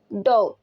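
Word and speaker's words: dough: flower या फिर ड डॉ में भी जी एच जो है ये साइलेंट हो जाएगा ये डफ नहीं पढ़ा जाएगा अक्सर लोग इसे डफ पढ़ते हैं लेकिन वो गलत है ये पढ़ा जाएगा डॉ नीर द डॉ मसाला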